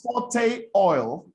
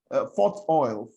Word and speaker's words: Forte Oil: And it is forte oil, not fort oil.